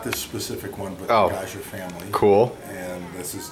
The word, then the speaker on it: Gaja: the sauce and I don't know how to pronounce that say it again gaja is the vineyard gaja yeah cand is the oh is the Style